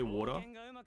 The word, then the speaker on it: water: When I say water, I don't pronounce the T. It's just it's a D. I pronounce it with a D.